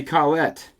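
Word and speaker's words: Collette: album, but it's Buddy Colette and his quintet. That's great. If your last name rhymes with quintet and you have a quintet, you should always do that. Buddy Klette and his quintet.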